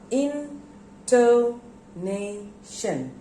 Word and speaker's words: intonation: intonation here you see i put used stress into nation when i say intonation so where do there are four syllables in to nation and where do i put the stress into nation name this syllable has got the stress now what is intonation